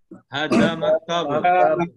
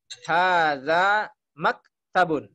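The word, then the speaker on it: هذا مكتب: Hada maktabun. Ada Nah, cara membacanya hadza maktabun. Pendek Pak ya semuanya.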